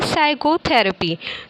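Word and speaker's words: psychotherapy: और पढ़ते हैं सैंडविच च लेटर इ silent in the word साइकोथेरेपी हम लोग इसको क्या पढ़ते हैं साइकोथेरेपी तो पी हम लोग का क्या है इसमें साइलेंट है च लेटर इज साइलेंट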